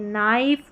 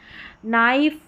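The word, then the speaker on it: knife: तो यहां पर देखिए नाइफ नाइफ नो नी और यह है नक। तो यहां पर सभी में के साइलेंट है और यह है नाइट। के एन को न पढ़ते हैं और के साइलेंट रहता है।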